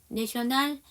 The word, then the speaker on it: national: 여기서 AL에 A는 발음이 날까요? 안 날까요? 여기서는 나요. 아까서는 specifically 해서 A가 발음이 안 났고요. 여기 national에서는 발음이 납니다.